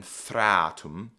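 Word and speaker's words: þreatum: Shadana is how this word is pronounced and then thratum is how this word is pronounced.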